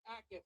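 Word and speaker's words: Jacas: The New England Patriots select Gabe Ackes. Up there's Gabe Ackes. Gabe Ackes had 11 sacks, second in Big Ten last year. The J in his name is silent.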